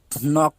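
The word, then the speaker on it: knock: তারপর দেখুন, আমরা যদি আরেকটা উদাহরণ দেখি, নক, নক অর্থ কি অর্থ ধাক্কা দেওয়া, এখানে কিন্তু কে এর উচ্চারণ হচ্ছে না।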